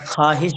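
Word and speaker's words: خواہش: খাহিস না এটা, যে খাহিস বললে বলবে। এটা খাহিস বলবেন, মানে আলিফটা এখানে উচ্চারণ হবে না, হ্যাঁ।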